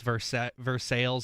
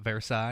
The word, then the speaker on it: Versailles: P R I in southern Indiana is not pronounced pre. Nothing says pre. is pricks like how it's vers sales and not Versailles.